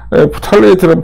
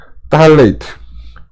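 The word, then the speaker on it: phthalate: 그래서 보면 프탈레이트는 발음 자체가 잘못됐다. 풀자는 빼야 된다. 딸레이트 이렇게 발음하는 게 맞는 것 같아요.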